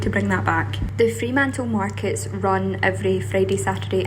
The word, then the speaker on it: Fremantle: Welcome to Fremantle, or Fremantle, as the locals say.